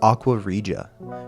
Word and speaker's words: Aqua Regia: It's Aquaria. And I know I'm pronouncing that right now because I talked to a couple friends and they're like, "It's actually pronounced like this."